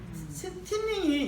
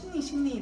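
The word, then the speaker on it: thinning: 틴닝이 일본 애들 발음이 안 돼갖고 이게 미들 틴닝인데 미들 신닝이 되는 거예요. 틴자 발음이 안 돼요.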